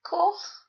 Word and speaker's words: coch: CH is always pronounced ech, as in Scottish loch. As Celts, you can all do ech, I'm sure, like coch, which means red.